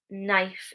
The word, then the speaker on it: knife: If the letter K is followed by the letter N, so we have KN, then the K is silent, like knife, knees, no.